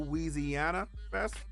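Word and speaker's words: Weezyana: Carter three he's gonna have his annual little wheezy Anna that's how you pronounce it in New Orleans yeah drinking that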